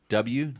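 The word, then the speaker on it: Dubya: By the way, rim. great company for wheels is W. That's D-U-B-Y-A. W. Wait, spell that again? D-U-B-Y-A. W. That's how they say W down south.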